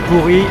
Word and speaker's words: Puri: Je vais prendre un train direction pourri. Non, pas pourri comme en français he ça s'écrit pas pareil. C'est pourri. P U R I.